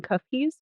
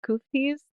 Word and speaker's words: Quftis: And I'm going to pronounce them “kufkies”? “koofkies”? It sounds like there's regional dialect differences. So it can be pronounced several ways.